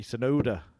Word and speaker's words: Tsunoda: And I also think about Japanese racing driver Yuki Tsunoda, pronounced the same way as well.